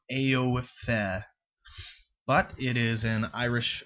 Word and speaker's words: Aoife: It is spelled A-O-I-F-E-H, so it's like Aoife.